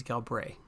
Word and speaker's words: Galbraith: Fun fact, Enoch Galbraith is my main character. you don't actually pronounce the TH, it's Galbraith, if you want to